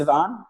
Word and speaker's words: Sivan: Sivan. Yeah. Sivan.